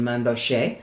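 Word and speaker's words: Mainbocher: collection items to discuss one is a main booger or you may prefer for the pronunciation manbo and an incredible gold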